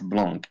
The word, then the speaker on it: Blanc: Blanc, as in white in French. Blonde. Blanc. The C is silent.